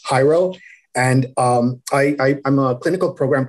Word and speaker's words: Jairo: It's got like, wait, well, how do you pronounce it? So it's Jairo.